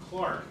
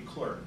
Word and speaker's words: Clerk: note on pronunciation james clark maxwell is the correct pronunciation as mike correctly pronounced it american english pronunciation would be clerk but the correct british pronunciation is clark and clark is not